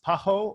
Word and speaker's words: PAHO: the pan-american health organization often pronounced paho or uh o pay sa in spanish the organization panamericana de